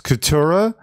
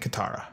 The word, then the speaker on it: Katara: seconds they go, hi, my name's Katura and Sokka. It's Sokka and Katara.